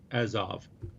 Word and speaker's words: Azov: How do you pronounce that? Mariupol. Yeah. Mariupol. Thank you. Sea of Azov. Azov.